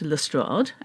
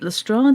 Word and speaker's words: Lestrade: I have heard it pronounced Lestrade and Lestrade.